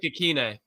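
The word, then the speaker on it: Ikhine: Westbrook Ikine.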